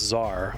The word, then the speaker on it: Tsar: Ah, yes, they call themselves the Tsar. Oh, it's supposed to be pronounced Czar. Okay, my bad. Been saying Tazar for a long time.